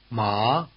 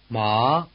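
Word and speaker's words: 麻: with a rising intonation think of the question Ma and it may help you pronounce the rising tone word which means hemp but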